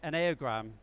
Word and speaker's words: Enneagram: It's a tool called the Enneagram, although really it should be pronounced Enneagram, but it just feels too weird saying that.